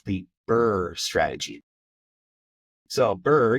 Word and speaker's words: BRRRR: the bur strategy so bur you can think of like being cold bur it sounds like it's spelled but with a couple extra RS so it's the b